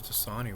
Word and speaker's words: Dasani: I think it was Dasani water. That's how you pronounce it.